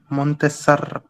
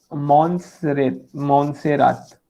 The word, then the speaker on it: Montserrat: Sir, Montesar, Montesart. Sir, can you tell the pronunciation? हाँ Montserrat.